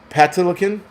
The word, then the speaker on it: Patinkin: It's Patinkin.